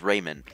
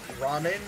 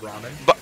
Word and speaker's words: ramen: was doing Iruka's voice would always pronounce ramen as Raymond.